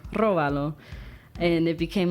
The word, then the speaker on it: róbalo: Now you remember how do you pronounce that word? Róbalo.